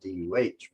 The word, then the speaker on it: duh: First of all, to join nouns, like John is a teacher, the word is duh. I spell it here D-U-H, but it's duh.